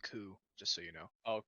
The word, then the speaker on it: coup: of opinion of terrorism, but also it's pronounced coup, just so you know. Oh, coup.